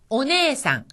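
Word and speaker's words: お姉さん: 오네상, 오네상. 여기서도 네 다음에 애가 왔으니까 길게 발음되어서 네가 되었죠.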